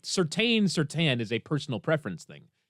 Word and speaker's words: Surtain: It's Surtain, dude. There's an I there.